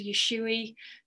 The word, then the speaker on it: Usui: so I want you to start learning the pronunciation of these so it's Dr yesui Dr Hayashi and Madame TARTA and it was